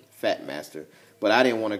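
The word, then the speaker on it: Phat Master: And it's called the Fat Master, which is spelled P-H-A-T, Fat Master.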